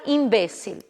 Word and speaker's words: imbécil: Hemorragia, que em espanhol será hemorragia, e imbecil, que em espanhol será imbécil.